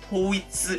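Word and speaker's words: 統一: 예 를 들어 , " 통일 " 이라는 단어는 " 토이츠 " 라고 발음 됩니다 .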